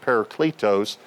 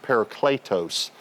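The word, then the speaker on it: παράκλητος: Now this word helper uh in the Greek is the word paricletos. I've heard people pronounce it paracletos but correctly it would be pronounced paricletos.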